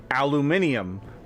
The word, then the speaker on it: aluminium: If people in Europe look up aluminum, they see aluminium, because in Europe, that's the way it's pronounced.